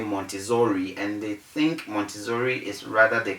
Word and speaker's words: Montessori: in this business so in a word like m o n t e s s o r i which you can see on your screen is pronounced as montessori because the ssr2 we give